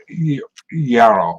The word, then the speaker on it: gyro: He made me practice saying gyro with roll your R's.